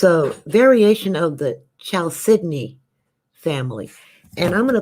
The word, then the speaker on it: chalcedony: told me years laters child sydney i'll say oh it doesn't even look like it sounds but that's the way the gemologists pronounce it so but it's a